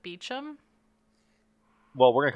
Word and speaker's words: Beauchamp: Now, Dudley's ghost has been spotted sitting around Beauchamp Tower. Beauchamp? I Beauchamp. think the English actually pronounce it Beecham.